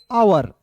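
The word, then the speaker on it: hour: देखिए मेरे दोस्त यहां पे लिखा हुआ है एच ओ यू आर तो क्या पढ़ेंगे? आवर। ठीक है? हावर लिखा हुआ है लेकिन आवर पढ़ते हैं।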